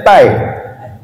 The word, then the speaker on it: tie: tulisannya blek iya iya dasih tie tulisannya tie bacanya tai dasih dan bangku Astagfirullah